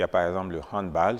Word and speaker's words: handball: a par exemple le handball j'ai bien dit bal et non ball parce que c'est d'origine allemande ou le a se pr prononce a bien sûr il y